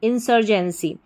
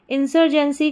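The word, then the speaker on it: insurgency: जाएगी ये पूरी स्पेलिंग फिर से देखिए आई एन इन एस यू आर सर इन सर जी इ N Jain in sir Jain और सी वाई आई सी इंसजेंसी इंसर्जेंसी इंसर्जेंसी का मतलब होता है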